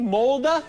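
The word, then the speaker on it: Molde: name of the town in Norway wal Walda spell it for me m o lde oh so it's mde molda all right is it is it a large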